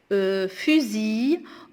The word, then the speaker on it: fusil: Fusil, on ne prononce pas le L.